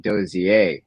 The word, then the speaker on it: Dozier: during for my wedding my grandfather um said dosier and my dad um told me that my last name is French German which I never knew and so my grandfather's pronounced it correctly but I've always heard